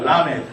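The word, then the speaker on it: למד: 이게 이제 여러분 나중에 발음하실 때 L 발음과 R 발음을 구분을 하셔야 되는데 이것은 L 발음입니다. 완전히 그니까 구르는 소리가 아니고 붙였다가 혀를 입천에 붙였다가 나오는러이 발음이죠.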